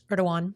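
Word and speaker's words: Erdoğan: Erdogan.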